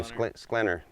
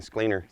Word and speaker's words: Sklinner: How do you say your last name? Sklinner. I keep saying Skleiner.